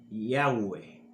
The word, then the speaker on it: Yahweh: Y ahí salen esas 4 letras llamadas tetragramatón, que es YHWH, con el agregado de 2 letras para poder pronunciar ese nombre como lo pronuncia un hebreo, que son la A y la E, Yahweh.